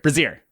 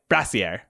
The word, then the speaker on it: brazier: uh a bazaar bazaar how do you say that word no it's not that you're combining brazier brassiere brassiere brazier is a bra yeah yeah but like